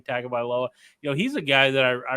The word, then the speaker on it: Tagovailoa: Maryland is a team led by Tagovailoa, I believe is how you say his name, Tagovailoa.